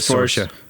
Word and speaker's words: Saoirse: Where like Saoirse Ronan's this sort of person, and you're like, oh, this one character could Who's Saoirse Ronan? She pronounces it Saoirse.